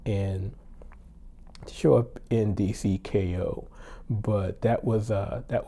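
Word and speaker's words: Kayou: Uh, it's pronounced Ko and it's spelled K A Y O U.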